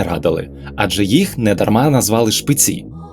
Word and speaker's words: Шпиці: Адже їх недарма назвали Шпиці я ставлю наголос у слові Шпиці на останній склад бо так роблять місцеві жителі крутою стежину